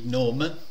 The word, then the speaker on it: GNOME: per esempio famoso kde antagonista di gnome o di gnom Insomma come volete pronunciarlo Io me viene da dire gnome ehm Ecco kde costruito